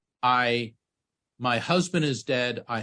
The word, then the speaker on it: Ay: Meanwhile, the Grand Visir, whose name was I, is it's spelled a Y, he was old enough to be her grandfather.